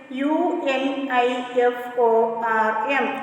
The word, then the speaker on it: uniform: the same rule because the pronunciation of u is y u and y is a consonant and see again some